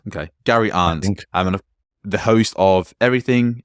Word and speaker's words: Arndt: I struggled to pronounce his last name, Tug, so help me out here. Arndt. Okay, Gary Arndt.